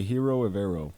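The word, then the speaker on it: Ejiro Evero: I'm going to say Hiro Evero.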